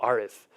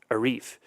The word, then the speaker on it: Arif: by to Parliament and they'll say well why are they calling you arith you told me your name is Arif and I say to them because most white folks can't pronounce Arif and I'm not a guitar riff right from a song but there the nomenclature